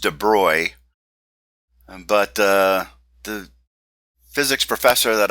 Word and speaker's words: de Broglie: but I'm told that his name should be pronounced Dubrow but the physics professor that I had when